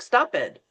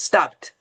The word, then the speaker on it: stopped: You actually have to change that to the T. And it's hard, right? Because you're reading the word and you're go, it looks like stop it, but it's not. It's stopped.